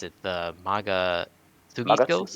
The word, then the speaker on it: Magatsuhi: and also another thing is the with the gameplay I forgot how you pronounce it, the Maga Sugi skills. Magatsuki.